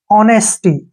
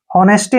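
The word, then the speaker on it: honesty: को ई की मा ऑनेस्टी ऐसे नेस्टी नहीं पढ़ना ऑनेस्टी ऑनेस्टी क्या होता है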